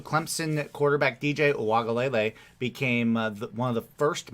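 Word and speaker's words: Uiagalelei: So DJ Uwagalele became the first Uwagalele, I think is actually how it's pronounced. You're better than I am. It's Uwagalele.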